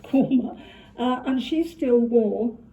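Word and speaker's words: Quernmore: It's spelled Quillmore, but it's always pronounced KMA.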